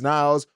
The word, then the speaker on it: Niles: is from niles uh niall says my bad i didn't say my name last time it's niles with us on the nine